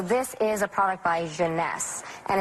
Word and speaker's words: Jeunesse: eight ageless what's the company how do you pronounce the Jeunesse Jeunesse its various makers yeah instantly you could see